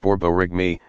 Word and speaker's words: borborygmi: caused by moving gas borborygmi pronounced borborygmi a word that sounds a lot like the noises your stomach makes when it's empty you